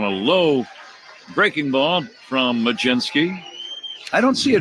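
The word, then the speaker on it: Mlodzinski: His name is Carmen Majinski. First pitch strike. Here comes the 0-1 to Talkman. And it's a called strike two. Now, Majinski is the way it is pronounced.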